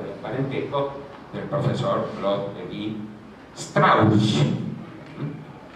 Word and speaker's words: Lévi-Strauss: parentesco, del profesor Claude Lévi-Strauss. No Lévi-Strauss, como dicen los franceses, que son incapaces de pronunciar una lengua que no sea la propia. Es un adjetivo alemán, de origen alemán, ¿cierto?